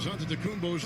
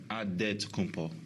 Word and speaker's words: Antetokounmpo: In a Greek way, you gotta say with a D, so it's Antetokounmpo. But in the Greek way, you say with the NT, like Antetokounmpo.